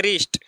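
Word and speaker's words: wrist: मीस होता है गलत य पर देखिए डब्लू के बाद आ आया है तो डब्लू का उच्चारण नहीं किया जाएगा जैसे रिस्ट रिस्ट माने कलाई देखिए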